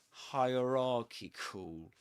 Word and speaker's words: hierarchical: So the main difference between the word hierarchy and this one hierarchical is that the main stress goes on ra this one hierarchical and actually this word is double stressed which means that the me the the main stress stress goes on ra and the secondary stress goes on higher hierarchical hierarchical can you notice the difference between